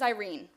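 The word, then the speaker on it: Eirene: an unusual middle name my middle name is Irene it's spelled e i r e n e after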